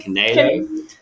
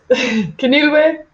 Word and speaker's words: Kenilwe: I hope I've got the right pronunciation. Kenelo. Kenilwe.